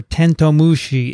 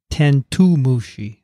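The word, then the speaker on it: てんとう虫: had to read it hitoshi writes the correct pronunciation for tentomushi is tento mushi not tentu mushi he has tento or 10-2 it's not 10-2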